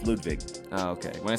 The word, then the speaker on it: Ludwig: how they pronounce it ludvig yeah the w sounds like a v in in their language so it's ludvig oh okay when I